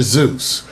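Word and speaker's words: Seuss: probably because he's so Americanized it's always been pronounced Dr Zeus I know it's weird it's weird Dr Zeus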